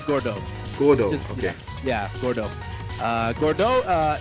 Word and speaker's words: Gordeau: Gordeau? Yeah, it's Gordeau.